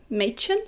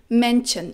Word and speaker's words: Mädchen: For example, I didn't pronounce the word girl, Mädchen, very well in German. I used to pronounce it Männchen, it means little guy, and people didn't understand it very well, always confused what I'm talking about.